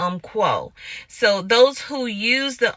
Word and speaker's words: Umpqua: how to pronounce it it's either Umpqua or um quo so those who use